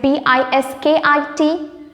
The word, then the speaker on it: biscuit: the correct spelling is b i s c u i t we need to add a small U there b i s c u i t bis kit okay remember this it